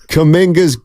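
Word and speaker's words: Kuminga: $19 somebody's Pon damn now I butchered that you got to trade it's you got to trade so I'm asking the great Rich Mitch it's kaminga got they got to dump or trade kaminga why does he do that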